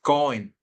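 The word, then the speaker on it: כהן: palabra sacerdote en hebreo es cohen con k h y acento en la e cen y significa mediador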